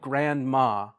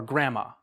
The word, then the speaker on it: grandma: so like for example grandma or Grandma you like native speakers you don't really say the D you just said Grandma